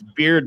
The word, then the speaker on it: Beaird: It's beard, but let me spell it. It's BEAIRD.